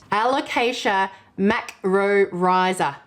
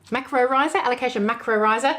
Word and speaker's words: Alocasia macrorrhizos: Alocasia Macrorrhizos. Alocasia Macrorrhizos.